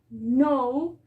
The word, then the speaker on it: know: a mirar tenemos knife que significa cuchillo tenemos know que significa saber o conocer y tenemos una